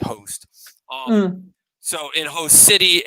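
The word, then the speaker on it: Khost: already blown up in host city the k is silent so it's k-h-o-s-t host um so in host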